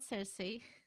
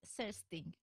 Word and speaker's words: Cersting: Her name is not Cersei from Game of Thrones. It's similar. Her name is Cersting.